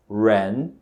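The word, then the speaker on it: 人: palavra Brasil se diz a pessoa se diz Rain segundo Tom Ok e para você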